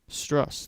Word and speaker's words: Strus: It's pron- I think it's said with two s it's spelled with one s, but he is hot.